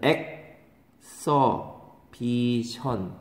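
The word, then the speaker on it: exhibition: 얘가 명사로 전시회 엑서비션 얘는 발음이 다르죠 이그지 빛 이그지빗 얘는 액 써비션 이렇게 되는 거죠 발음 가지고 얘기 많이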